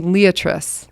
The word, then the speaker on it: liatris: tables on here um how do you say l-i-a-t-r-i-s liatris i like the way you say that yeah i'd say yeah i hear a lot of blazing stars liatris and um i grew up saying liatris leaders i like liatris how it sounds but